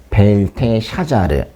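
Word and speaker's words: בלטשאצר: 벨드사은 이제 원래 발음요. 벨테 샤자르 이렇게 부르거든요.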